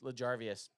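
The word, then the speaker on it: L'Jarius: mile EJ Savage says L jarvus Sneed it's larvas guy's playing unreal probably not spelled right but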